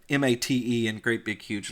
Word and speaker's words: MATE: matei Martin whim pris he pronounces it mate a which is the way I pronounce it because I really can't do the Spanish pronounce me pronunciation justice it it should yeah I'm